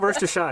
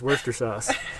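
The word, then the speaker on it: Worcestershire: Shou and Worster sauce I just call it Worster and then Worster sh it's not Worster shy it's just Worster sauce uh this is a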